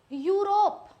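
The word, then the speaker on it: Europe: ई यू आर ओ पी ई ई यू को बोलते हैं यू आर ओ पी यूरोप माने रस्सी दे दिया यूरोप। यूरोप बन गया। अब यूरोपियन मतलब यूरोप का।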